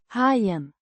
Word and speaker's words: hajen: Hyen means the shark pronounced hyen with the o sounding like the